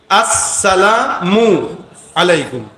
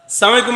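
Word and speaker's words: السلام عليكم: আসসালামু আলাইকুম কি আবার উচ্চারণ করেন আমার সাথে, আসসালামু, শুরুর হামজা আর শেষের মিম, আসসালামু আলাইকুম, আসসালামু সালামালাইকুম। মানে কি জানেন? তোর মৃত্যু হোক, আসে এটা, এটার অর্থ এটা।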